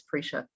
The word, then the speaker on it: Priscia: And I want to pronounce your name right, Priscia, right? Oh, rhymes with Alicia. It's Priscia.